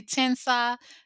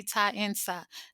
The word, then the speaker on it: Taensa: And some people say Tensa, some people say TAENSA.